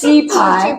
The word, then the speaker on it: 雞排: Is it the right pronunciation? Yes. Chi pie.